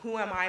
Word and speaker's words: Who Am I: Yes, Who Am I magazine. It's spelled HUAMI.